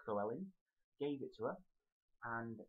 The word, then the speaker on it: Llewellyn: character for Dallas character whichever it was it's Kelling so I hope that helps if you want help to pronounce anything El um let me know um